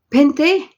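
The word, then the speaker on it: Fanta: Pente naman din yung panta. Pente ang pronunciation kay F-A-N-T-A.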